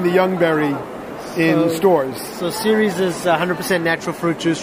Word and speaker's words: Ceres: All right, I'm with Zach Schein from, how do you pronounce it, CERES? CERES. CERES.